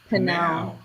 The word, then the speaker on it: PNAU: How do you pronounce that? Panau.